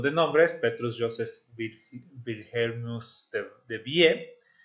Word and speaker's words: Debye: Petrus Joseph Wilhelmus de Vie. De Vie es como se debería de pronunciar, y nació en la